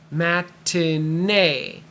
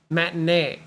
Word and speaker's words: matinee: e at the end sounds like a y matinee matinee a matinee is an early showing that could